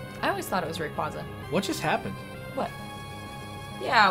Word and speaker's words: Rayquaza: is the official pronunciation uh and speaking of pronunciation Rayquaza is the official pronunciation of Alex's guy that